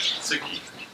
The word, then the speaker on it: tsuki: And as you will see here, moon in Japanese, as you will pronounce it, as tsuki.